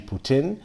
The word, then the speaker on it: poutine: I always used to call it poutine, but it's actually poutine.